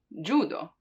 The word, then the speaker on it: judo: So we have J, for, let's say, judo, judo, because that's how it's pronounced in Japanese, right? That's where the word comes from, judo.